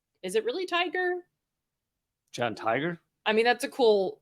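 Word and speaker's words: Tigar: it really tiger John tiger I mean that's a cool it's t-i-g-a-r is his name but if you pronounce a tiger that's pretty cool anyway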